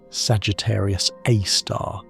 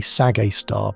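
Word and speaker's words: Sagittarius A*: lurk Sagittarius Aar, SG, A star for short, pronounced Sagittarius Aar, though most astronomers just say Sagar because we're all too tired to pronounce the full name properly after a long observing night.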